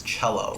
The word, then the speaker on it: cello: that hates me, but I always think of it as Chell, right? I always like cello. Oh, cello. Like like it always takes me that one split second to be like, oh, it's cello with a silent H.